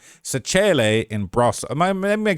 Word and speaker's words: Brașov: How to pronounce a Brașov?